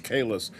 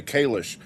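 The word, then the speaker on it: Kahless: Stan's question here about Holly Hunter teaching people how to pronounce Kalis because they say Kalish.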